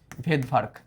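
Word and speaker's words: Svedberg: বিজ্ঞানী সভেদভারক আবিষ্কার করছে উনার নাম আসলে ভেদভার্গ ভেদভার্ক উনার নামের আগে একটা সাইলেন্ট এস আছে ওই এসটাকে উনি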